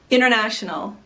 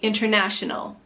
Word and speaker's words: international: It's not wrong to fully pronounce the T and say international. In fact, you'll hear Americans say both international and international. You should listen for both and know that they are the same word.